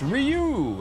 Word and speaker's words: Ryu: It's pronounced Ryu.